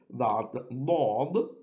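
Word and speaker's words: ضاد: And the R on the right hand side tells us that Daad is pronounced round or full mouth.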